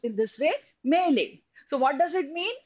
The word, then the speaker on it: melee: is a confused fight a muddle this is pronounced in this way melee so what does it mean it is a